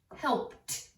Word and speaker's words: helped: When vowel suffix ED comes after an unvoiced letter, it is pronounced t, t, like missed, helped, jumped. Why? Because the S and the P are unvoiced. That means you do not use your vocal cords, you use your breath.